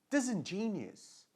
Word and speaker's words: disingenuous: This in, ó, strong syllable lá. Desengine, olha o G, som de J. Não é igual Djavan. J. Desengine, né? Genus. Disingenuous. Ok? Like capricious. Né? O som de us no final.